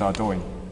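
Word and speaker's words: Ardougne: In fact, I think we should probably give you some scores on the board for that actually because you actually pronounce it correctly. Is Ardo.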